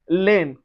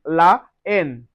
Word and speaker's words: la haine: We have la haine. La haine. So, we don't say l'haine. On dit la haine.